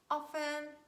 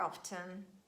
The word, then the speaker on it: often: asthma christmas mortgage soften the word often can be pronounced in both ways and we can say often or often it's your choice and i hope you